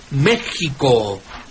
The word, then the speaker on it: México: El español de tiempos de la Reforma ya es, al enseñarse decía que México debe escribirse con X y pronunciarse desde luego con J.